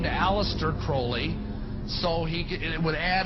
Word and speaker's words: Crowley: he likes to bring have his name pronounced crowley to rhyme with holy and the satanist today